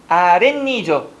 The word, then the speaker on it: 아랫니: 발음을 해보면요. 아랫니죠. 앞에는 뭘로 끝났고? 모음으로 끝났으니까. 그래서 발음은 뭐가 된다? 아랫니가 되니 표기를 아랫이라고 하는 겁니다.